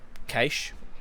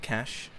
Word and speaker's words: Cache: I think Cache, as we pronounce it, not Cash, even though it says that on the header, is actually quite a strong map for Chiefs.